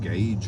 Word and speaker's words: gauge: It's spelled gorge. I believe it's a French word, but I'm not very good with language, even English. But yeah, pronounced gauge, I believe. That's what I hear the mechanics call it, at least.